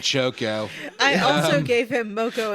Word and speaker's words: Choco: well I give him Moco and chog so moo and CH moo and CH this slight mispronunciation MOG and choco I also gave him